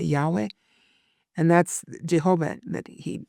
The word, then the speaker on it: Yahweh: to himself as Jehovah, which in the Hebrew is like Yahweh, right? Except without the vowels, because it's just YHWH, but it's, if we were to pronounce it, we would say Yahweh.